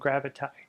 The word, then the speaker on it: gravity: and wass apparently and i and gravity were supposed to have rhymed too i and gravitay so also dessert and